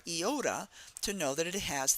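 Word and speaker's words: Iota: following Theta we get eoda eoda so it starts with a e eoda and if you know the the letter eoda you know that name it has the e sound eoda the e sound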